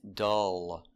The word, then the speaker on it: dull: Our first example is dull. Dull. Making the vowel dull. And the L is a dark L. It's in the back.